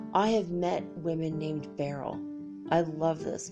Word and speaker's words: beryl: have met women named Beryl i love this name it not Beryl be a r re l like roll out the barrel no not that barrel be e are why l it's a very interesting